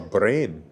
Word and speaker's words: Bremen: Good evening from Bremen or Bren as the locals uh pronounce it.